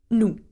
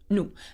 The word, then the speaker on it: nous: Nous. Bravo. Nous. And though it has an S, we don't say nous. Okay, we say nous.